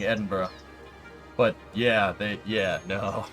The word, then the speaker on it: Edinburgh: around Pittsburgh yep now that's how you say it it's it's Edinburgh Discovery Edinburgh gotta say it with the back of your the back of your throat me Edinburgh yeah I